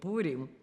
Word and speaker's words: Purim: And-- So we had Purim too, we called it Pirim, not Purim, but Pirim.